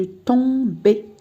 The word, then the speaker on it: tombais: Alors, regardez, avec la première personne du singulier, je dis je tombais. Donc le AI se prononce E. Je tombais.